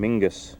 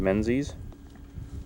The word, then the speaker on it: Menzies: that one yeah well if this guy here was a true Scotsman he would have pronounced his last name Mingus instead of Menzies Mingus maybe they're having